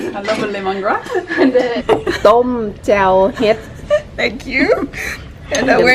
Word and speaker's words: jaew: I'm not sure exactly how to pronounce it. Gao? Jaew. Say again? Jaew.